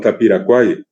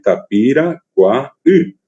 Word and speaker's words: Tapiracuaí: famoso arroyo que también otra vez mal pronunciado, así como Paraguay quedó en Tapiracuay. Y si vamos a pronunciar correctamente en guaraní, es Tapiracuaí, Tapiracuaí.